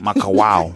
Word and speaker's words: Makawao: Makawao. How would you pronounce it?